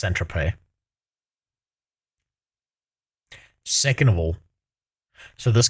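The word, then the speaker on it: Saint-Tropez: For example, in 2010, Joe Law was pictured partying with Paris Hilton in St. Tropz. And in 2019, the Sun Okay, first of all, it's pronounced Centrope.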